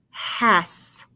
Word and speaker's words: has: Sometimes S's sound like Z's. So let's try the Z sound.